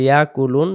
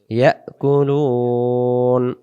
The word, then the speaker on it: يأكلون: ইয়া এমন আওয়াজ আসবে যদি বলি ইয়াকুলুন তাহলে উচ্চারণ ভুল হবে উচ্চারণ হবে ইয়াকুলুন وذللناها لهم فمنها ركوبهم